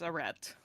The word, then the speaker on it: arete: I looked up the pronunciation. It's arete.